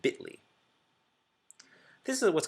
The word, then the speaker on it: Bitly: L um we pronounce it bitly this is what's called